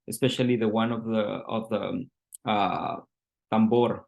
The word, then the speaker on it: tambour: And he's blending that history, especially the one of the tambor.